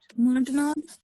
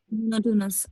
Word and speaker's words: monotonous: मोनोटोनॉल. Ma'am मोनोटोनॉल, हाउ to pronounce it? Monotonous. Monotony होता है ना यहाँ पे. मोनोटोनस.